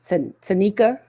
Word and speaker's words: Tanicia: So we have, pronounce it correctly, it's Tanicia.